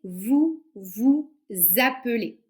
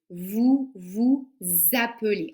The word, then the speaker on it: vous vous appelez: avec moi donc c'est vous vous appelez donc répétez vous vous appelz on fait la liaison vous vous appelez pourquoi parce que le